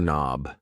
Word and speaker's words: knob: A door knob. Yes. The K in knob is silent.